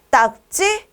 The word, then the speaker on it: 딱지: 소리로 쓰면 되는 거겠네요 4번에 딱지 딱찌 여러분 보세요 딱 기억 받침이 왔어요 찌라고 읽어요 하지만 기역 비읍 받침 뒤에 나 된소리는 비슷하거나 똑같지 않을 땐 된 소리로 쓰는게 아니라고 했죠 그러니까 어떻게 써야 할까요 딱 지라고 써야 하는 거죠 이해되시죠 지라고 쓰면서 찌라고 읽는다 정답은 4번이다 4번은 다음 피동